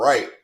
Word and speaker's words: Reich: name Freight right that is it rich or right is it I think you say it right right that's how you